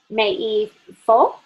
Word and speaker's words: מאיפה: That's how you pronounce it. Meifo.